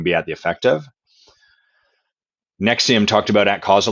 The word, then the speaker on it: NXIVM: And for anyone trying to find about Nexium, it's spelled a bit weird. It's spelled NX. How do they spell it? Nexium. I think it's NXIVM.